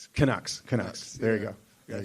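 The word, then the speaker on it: Canucks: So, yeah, the the how you pronounce it, the Kucks. Kucks.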